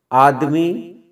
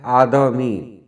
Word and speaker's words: آدمی: آخرت، آخرت۔ آخری، آخری۔ آدمی نہیں ہوتا ہے آدمی۔ آدمیت نہیں، آدمیت۔ آراستگی،